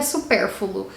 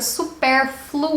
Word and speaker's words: supérfluo: a isso aqui é super fogo não existe supérfluo no dicionário da língua portuguesa existe a palavra supérfluo ou é um pouco mais difícil de pronunciar obviamente mas é a maneira correta de dizer e é terceira palavra